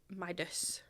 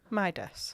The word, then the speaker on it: Midas: It's My-das. My-das. Yeah. As in like M Y, but it's M I.